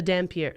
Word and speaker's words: Dhampir: I'll help you with the pronunciations. There is the Dhampir, which Dhampir.